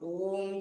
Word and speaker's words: ओम: स्वरणीय संधये, विधि पूर्वक ओम की एक एक मात्रा, ओ, फिर ऊ, फिर म, ऐसे उच्चारण करके एकाग्र करके ओम का ध्यान, फिर जोड़ देना। ओ उम अलग अलग किया, फिर जब वो उच्चारण जोड़ते हैं तो ओम बन जाता है।